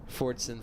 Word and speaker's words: Fordson: immediately behind the goals there's a silent s on that Fordson for some reason there